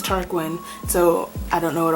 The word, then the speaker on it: Tarquin: I wanted to pronounce it like Tarquin, like Joaquin, but it was Tarquin.